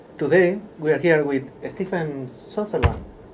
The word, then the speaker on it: Stephen Sutherland: Today we are here with Stephen Sutherland. Have I pronounced it well, your name? Yes, you have.